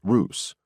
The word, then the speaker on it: Rus: known as the capital Rus pronounced Roose a likely origin for